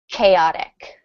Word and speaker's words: chaotic: Um, and Greek words the ch is pronounced k. So, this word is chaotic.